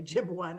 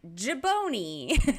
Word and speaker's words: jibone: Some people say Jib1. I'm like, no, that's not right. Jib1. Honestly, a little of my Italian came out when I first saw it, and I was like, jibone.